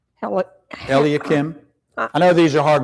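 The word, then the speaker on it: Eliakim: Then came forth unto him Elkam Elakim. I know these are hard words to pronounce.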